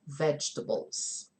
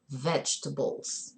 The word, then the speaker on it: vegetables: lots of raw vegetables remember the pronounciation vegetables vegetables vegetables I know that people get a little bit confused because their entire lives they've seen the word table and then they see a word that has that word in it